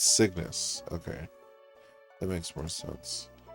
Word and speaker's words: Cygnus: Cygnus. It's Cygnus. Okay. That makes more sense. So kind of like sickness, but it's Cygnus.